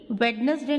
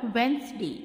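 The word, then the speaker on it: Wednesday: वेडनेसडे नहीं बोलेंगे, that is called वेंसडे, that is called Thursday, that is called Friday, that is called Saturday, not Saturday.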